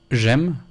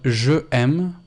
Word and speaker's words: j'aime: So, for example, j'aime, which means I love, is not je aime, but j'aime.